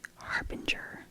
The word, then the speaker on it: harbinger: Harbinger. I like this one. Harbinger. I think some people say harbinger, but I don't think that's correct.